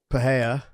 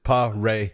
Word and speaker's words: Pereira: It's like, but his last name is Pereira. All right. Just say Ray in the middle.